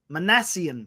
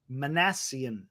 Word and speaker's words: Minasian: And the news today that he found his GM, Zack Minasian. I said it wrong earlier. It's Minasian. I want to make sure I get that right.